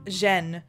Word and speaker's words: Zhen: Your name is Zhen. It's pronounced more like than Zen, but most people have